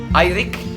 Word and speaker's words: Eirik: So now I'm going to take Eirik, have I pronounced it right? Yes! Eirik back to his hotel, and then it's going to be a long night of video editing.